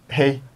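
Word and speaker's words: hej: Hey. Hey. H-E-J, mais oh, ça se prononce hey.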